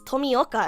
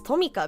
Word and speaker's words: Tomioka: Why does everyone pronounce Tomioka as Tomika? Because you don't have the O in your name.